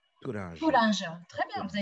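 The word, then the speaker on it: toranja: En portugais, c'est tourange. Touringe. Tourange. Très bien. Vous avez une très bonne prononciation, Thierry.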